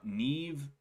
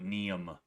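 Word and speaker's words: Niamh: I know how to say this one because I actually grew up with a girl named Neve. Um I know it's I know I know it's not Neem or anything like that, you know.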